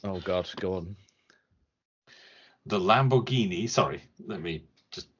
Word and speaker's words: Lamborghini: highlights the nonsense oh God go on the Lamborghini sorry let me just pronounce that properly Lamborghini yes a 6.5 L V12 oh yeah yes